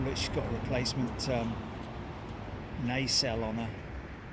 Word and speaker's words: nacelle: Oh, look, she's got a replacement nacelle on her. Or nacelle, as it should be pronounced in Blighty.